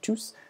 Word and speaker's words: tous: And it's also good to note that the S in tous is pronounced when it's a pronoun, but not when it's an adjective. So when it's a standalone by itself, you'd say tous, but then when it's